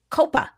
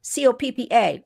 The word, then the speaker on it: COPPA: I'm telling you because this is the first piece of child safety legislation since 1998, when we had COPPA, C-O-P-P-A, or COPPA. It's pronounced all different ways.